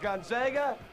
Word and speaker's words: Gonzaga: we can't play with this isn't Cinderella it's pronounced gona they're going to learn how to pronounce it